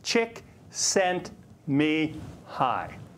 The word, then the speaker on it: Csikszentmihalyi: explores human happiness and while his name appears unpronounceable it's broken down as chick sent me high now even if his